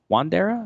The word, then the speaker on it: Wandera: good shape last one of the week uh wandera wandera is that how you say it yeah they